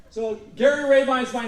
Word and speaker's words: Rabine: So Gary Rabine's my name. The nice thing about up northern Illinois here, most people know how to pronounce this name of mine. Okay. It's Rabine, long A, long I.